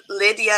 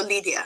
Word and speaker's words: Lid'ya: my name lydia so instead of lydia it's like lead yeah so lydia yeah libya so what